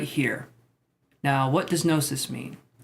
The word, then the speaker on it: gnosis: here now what does gnosis mean you would think this is pronounced genesis but you would be wrong because that sounds like